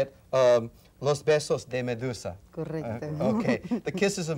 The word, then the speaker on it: Los Besos de Medusa: Her current project, in fact, is a you now got me nervous about pronouncing this, but I'll go ahead and say it. Los Besos de Medusa.